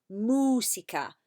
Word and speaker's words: música: Ahora, música. Repetid, música. Muy bien. I don't want you to say musica. There's no mewing like a cat. It's mooing like a cow. Música, música.